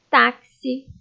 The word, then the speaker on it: táxi: Palavras com som de KS. Leiam comigo. Táxi, tóxico, oxigênio, anexar, axila e fixar.